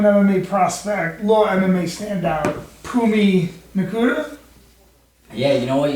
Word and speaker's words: Phumi Nkuta: prospect, law MMA standout, Phumi Nkuta. Yeah, you know what? You said it right.